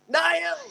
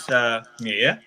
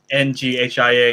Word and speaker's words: Nghia: So yeah, my name correctly pronounced is Nghia. Nghia, Nghia.